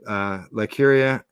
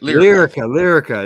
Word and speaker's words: Lyrica: The drug or medicine known as ketamine, ketamar 2, demonstrated up to 112% more effective results than Lycuria, and 70%. What's that? Lyrica, right? Lyrica.